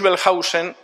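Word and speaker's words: Wellhausen: Julius Pelhausen, la W en alemán se pronuncia como V fuerte, no como U. Julius Belhausen escribió un libro en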